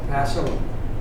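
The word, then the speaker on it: Passau: may have come from community in Germany called Paso the ANS s a u and my German pronunciation there may not be quite perfect but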